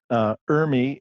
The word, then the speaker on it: ERMI: good foundation of what Urmi is and what it is not well good so let's start at the very beginning then Urmi is spelled er mi and stands for environmental relative moldy dis index I always laugh when